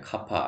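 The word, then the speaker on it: κ: 식은 다시 C제곱은 KRT가 되게 되고, KRT가 아니라 카파 RT가 되게 되고, 물론 뭐 어떤 사람은 K라고 그 발음을 하시는 분들도 있는데, 어쨌든 뭐 비열비는 일반적으로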